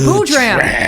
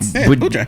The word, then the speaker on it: Boodram: It's just Boodram. It's phonetically correct. Boodram.